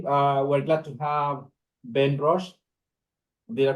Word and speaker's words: Rosche: Today, we're glad to have Ben Rosche. Did I pronounce it correctly, Ben? Yeah, you did. Ben Rosche, who is a currently he's about to defend